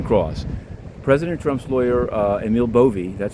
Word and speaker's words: Bove: President Trump's lawyer, Emil Bovey, that's how it's pronounced, had obviously done a lot of research into Mr.